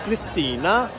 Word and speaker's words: Kristine: Her name is spelled Kristine. K-R-I-S-T-I-N-E. But it's pronounced Kristina.